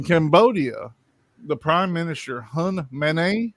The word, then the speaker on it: Manet: In Cambodia, the Prime Minister, Hun Manet, I believe is how you say it. It's similar to mayonnaise, but it's Manet.